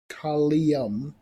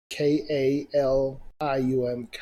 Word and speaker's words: Kalium: So before I continue with that, further introducing myself, Kalium, the Azurite King, Kalium, that's how it's pronounced, Kalium, Kalium.